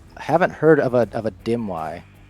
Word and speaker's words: Dimwi: haven't heard of a Dimwi. He's heard of a dimwit. Dimwi. So I said it wrong again anyway. That's a common misconception. Most people think I took the T off my name.